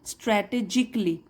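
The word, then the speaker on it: strategically: अब देखिए CALLY जब आता है किसी भी वर्ड के लास्ट में तो हम ए साइलेंट मानते हैं, उसको नहीं प्रोनाउंस करते, स्ट्रैटेजिकली।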